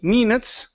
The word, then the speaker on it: minutes: right here so minutes instead of me minutes give me a short ey sound five minutes later minutes